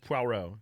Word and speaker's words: Poirot: I think it's pronounced Poirot, actually.